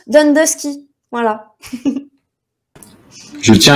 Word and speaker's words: Downdusky: Et ça se prononce Dundusky.